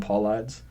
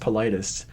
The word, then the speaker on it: Paulides: I called him Paulides. And someone commented, because it was just up on YouTube then. Yeah. We didn't have it on like iTunes or Yeah. anything. He was like, it's pronounced Politis.